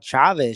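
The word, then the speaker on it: Chávez: called Chavez Chavez and no corre don't get me correct him dude don't get me started on yeah he'd put the accent on the last syllable right Chavez Julio sees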